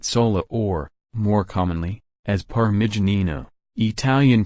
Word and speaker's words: Parmigianino: as Francesca Matt sola or more commonly as Parma janina Italian pronunciation Parma danina the little one from Parma January 1115 no